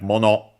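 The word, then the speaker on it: 物: Uh then we have mono uh accented also on the last syllable.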